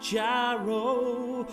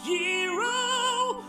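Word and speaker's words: gyro: going to get a jyro although it's technically pronounced hero although I still want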